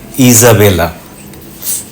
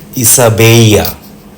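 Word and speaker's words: Isabel: ticket বিখ্যাত Spanish রানী ইংরেজিতে ইজাবেলা Spanish ভাষায় উনার নাম ইসাবেইয়া জোরা এল উচ্চারণে হয়ে গেল ওয়াই ইতালিয়ান ভাষা নিয়ে বলতে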